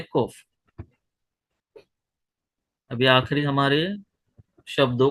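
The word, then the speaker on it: ק: और कॉफ जो है उसका साउंड क्या होता है? क्यू, यानी कि क का साउंड होता है, लेकिन इंग्लिश में लिखने के टाइम पे हम लोग उसे क्या लिखेंगे? क्यू। ये कॉफ है, ये क्यू का साउंड देगा, जैसे कि क्वीन है ना, वैसे।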